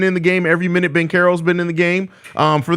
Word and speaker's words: Banchero: I didn't think Banchero, I think is how you're supposed to pronounce it. I didn't have much hope for P. Will's ability to guard him in this game, but Banchero's 2 for 10 in this game.